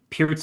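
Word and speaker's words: Pirc: It's called Perk Alert in Mm-hmm. America because they can't pronounce names correctly, but Peart's Alert, I guess, would be technically correct.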